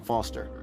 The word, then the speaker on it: Foster: I'm Foster. I'll remember that easy because your name rhymes with fossil and you're old.